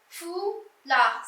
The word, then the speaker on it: foulard: Et enfin, nous avons foulard. C'est facile, hein? C'est déjà un fou. Là, le D muet, on écrit mais on ne prononce pas.